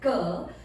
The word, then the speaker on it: ಕ: The first letter is pronounced as a K, where you can say as a car.